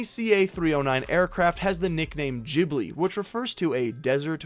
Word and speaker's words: Ghibli: couple videos on Princess Mononoke my favorite Studio Ghibli movie of all time one of the biggest